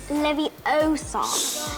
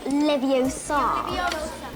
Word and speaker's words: Leviosa: Besides, you're saying it wrong. It's Leviosa, not Leviosa. Wingardium That's pretty good, Leviosa.